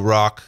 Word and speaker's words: ROKH: going here welcome to rock this is by the way how I pronounce this I don't know if it's initials for anything but rock is how it's pronounced really acts as part